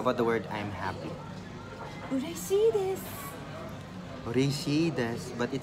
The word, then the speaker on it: 嬉しい: Urushi desu. Urushi desu. Urushi desu. I'm happy. So to get my pronunciation correctly, I really have to do that.